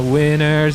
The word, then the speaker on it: winter: On a winner's day. On a winner's day. You think they say winter's day, but they just don't pronounce the T in the word winter cuz they're Americans.